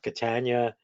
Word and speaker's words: Catania: that's a problem enough Catania well the simple way to spell that up is to say rhymes with Britannia and uh so I